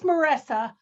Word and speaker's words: Marissa: It's Marissa. Like Marissa. Vanessa, only with an M.